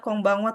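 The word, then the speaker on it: こんばんは: Terus di sini juga ada konbanwa tadi ya, oyasumi nasai.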